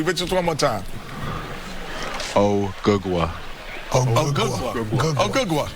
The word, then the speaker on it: Ogugua: My real name is Ogugua. Ogugua?